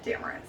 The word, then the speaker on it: Damaris: gonna learn just remember it rhymes with what i look like glamorous yeah her insta handle at glamorous part damaris the cutest thing ever